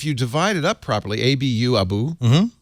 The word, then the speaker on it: Abu: Yes, I realized if you divide it up properly, A-B-U, Abu, L, Samid. Yes. So I suddenly realized, I can pronounce that.